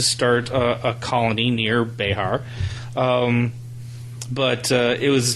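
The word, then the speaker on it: Bexar: in the county of bear and if you're not from Central Texas bear is b x a r right uh I don't know where that prononciation comes from cuz it doesn't sound Spanish bear I think is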